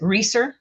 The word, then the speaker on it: Royer: Uh, pronounce it Reer with a long e. Reer.